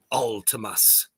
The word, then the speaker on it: Vltimas: as David Vincent uh pointed it out before our interview about a month ago that uh it is Ultimus and it's like some